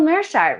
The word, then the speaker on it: Meerschaert: back in my kitchen and we've got gerald merchart with us today i'm super excited to talk